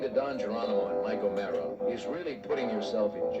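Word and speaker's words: O'Meara: And Mike O'Mara, the name is spelled O-M-E-A-R-A, Mike O'Mara.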